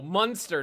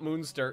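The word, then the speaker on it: Münster: No, Munster, not Moonster. Yeah, I know, goddammit! It's spelled almost... There's only an umlaut different.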